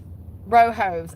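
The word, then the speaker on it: Rojas: Rohos. I'm over here trying to say Alapino to remember how to say the J.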